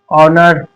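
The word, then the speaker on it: honour: अब एच कहां पर साइलेंट होता है? अगर ओ से पहले एच आए तो एच साइलेंट होगा। यानी एच से पहले एच के बाद ये देखो एच के बाद अगर ओ आया तो ओ हमारा एच जो है वो साइलेंट रहेगा जैसे और होनेस्ट ऑनर इस तरीके से अब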